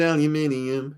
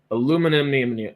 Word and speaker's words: aluminium: with an i m you pronounce it aluminium because there an N next to the and now write it down slowly sorry I think it should be changed to what kaha said though aluminum oh wait aluminum oh